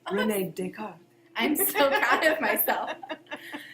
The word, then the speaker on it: René Descartes: René Descartes.